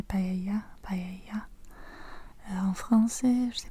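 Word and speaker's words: paella: En anglais, on dit pay. Payala, on prononce le l. Je crois qu' en espagnol c'est Payaya.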